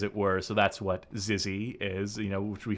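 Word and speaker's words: xyzzy: this word oh the sick word Zizzy there we go we got the proper pronunciation there so this exists this is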